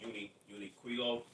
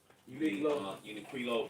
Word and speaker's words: Uniqlo: It's called Uniqlo. Uniqlo. It's spelled UNIQLO.